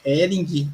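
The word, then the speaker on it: Häring: Então, o nome é Ering, a pronúncia mesmo, né? Porque em cima desse A aí tem uma trema, então fica com a pronúncia de Ering. Né? Então, é Ering. A origem é suíça aí, tem um parentesco na Ó, Suíça ali, né? Bem distante, viu? legal, Já quero deixar bem claro que é bem distante, né? Mas dessa é a origem aí, a pronúncia é Ering.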